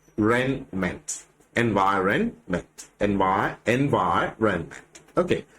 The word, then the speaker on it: environment: Which is the syllable stressed in the word environment? അപ്പോൾ ഇവിടെ ഏത് സിലബിളിനാണ് സ്ട്രെസ് വരുന്നത് എന്നുള്ളതാണ് ചോദ്യം. And ഇതിന്റെ ആൻസർ is the second.